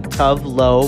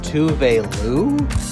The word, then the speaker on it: Tove Lo: and we all found out that we've been pronouncing tough low wrong that's how you pronounce tough low tough low is pronounced touvelu thanks to dragrace i learned that i have